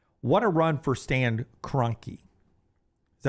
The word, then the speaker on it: Kroenke: What a run for Stan Kroenke. Is that how you say his name? Yeah, the owner for the Rams? Stan Kroenke.